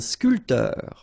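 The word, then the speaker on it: sculpteur: not that difficult and scul and spor a a photograph a journalist all right so a bman a scul same thing here this P here is not pronounced so scul and scul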